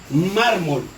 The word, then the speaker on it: mármol: Miren, si ustedes observan que esta cartilla de aquí tiene un color distinto, eso significa que aquí lleva la mayor fuerza de voz.